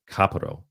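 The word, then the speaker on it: kapparos: still practice a ritual called kaparo, which I believe is how you correctly pronounce it, kaparo.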